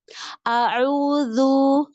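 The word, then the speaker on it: أعوذ: A'udzu harusnya tipis. Ya baca a'udzu, dhu. Itu kan tebal.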